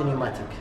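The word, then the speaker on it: pneumatic: بي سي بي بري تشارج نيوماتيك، كلمه نيوماتيك وتبدا بحرف البي لكن تكون يعني لا تلفظ، معناتها اي شيء يعمل بضغط الهواء مع وجود صمامات.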